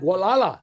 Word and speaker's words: Gualala: Uh and this is uh Richard and I don't know how to pronounce that. Gualala.